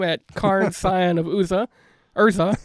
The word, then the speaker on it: Urza: Urza, not Uza. That was my mispronunciation when we did the Dominaria show.